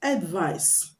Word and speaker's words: advice: with C is pronounced advice advice the C is pronounced s s and the one with